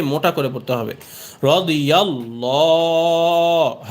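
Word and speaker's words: الله: ডানদিকে জবর এসেছে এজন্য আল্লাহ শব্দের এই লামের উচ্চারণকে মোটা করে পড়তে হবে রদিল্লাহ হা পেশহু রদি আল্লাহু আইন নুন জবর আন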